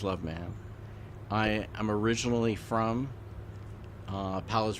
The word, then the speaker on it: Loveman: my name is love ma'am I'm over pronouncing my last name because some people not believe it so I make a point of saying it that way but it is love man I am originally from